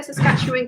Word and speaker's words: Saskatchewan: it is in saskatchewan and i did say saskatchewan correctly dad's not listening sorry i'm gonna run